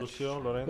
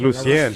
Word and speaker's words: Lucien Laurent: Lucien Laurent from Selección Mexico. Oh. No, that I didn't know that. Lucio Lorenzo. Lucian Laurent. It's Lucien.